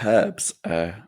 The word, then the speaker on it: herbs: Herbs, we do have some. Yeah, we do have some. We say herbs, being British, but herbs. Yeah, I like the American pronunciation.